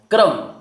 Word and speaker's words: क्रम: क्रम, क्रम, क्रम। क्या आ रहा है? आधा का आ रहा है, पूरा रा आ रहा है।